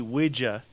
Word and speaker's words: Ouija: Well, like the Ouija board.